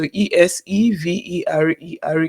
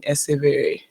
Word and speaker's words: Eseverere: So is it essay verere? Eseverere. Okay, I tell people let's make Eseverere. it simpler. Just assume that the last RE is silent.